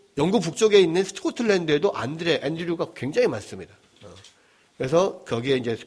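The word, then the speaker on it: Andrew: 어 안드레의 영어 영어 영어 발음 어떻게 됩니까 영어 이름은 안 안잖아 앤드 앤 영어는 영어식으로 앤드류 러시아에서는 안드레이 어 프랑스에서는 뭐라고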